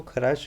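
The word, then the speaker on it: Kharasch: है, इस इफेक्ट को खराश इफेक्ट भी बोलते हैं, खार्श भी कहते हैं कुछ बुक्स इसको। स्पेलिंग डिफरेंट मिल सकती है, कोई दिक्कत नहीं है, ध्यान रखना है खार्श इफेक्ट है।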